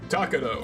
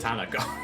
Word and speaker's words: Takano: Takano. Takano. You said Tanako. Tanako. Who is there a Tanako in this game? You just said it wrong.